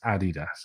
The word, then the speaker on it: adidas: some people oh god it's adidas guys it's adidas it's how it's pronounced um i think that adidas is great